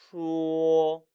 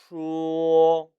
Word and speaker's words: 说: 说, 说, 우 모음과 오 모음이 합쳐져서 说, 说 라고 발음해야 합니다.